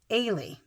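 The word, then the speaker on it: Eilidh: it EI l i d h but it's pronounced ay so ay goes with Adam astred Amber Arnold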